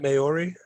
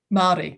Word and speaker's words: Māori: So is that Maori? Māori. Yeah. Maori. Māori language.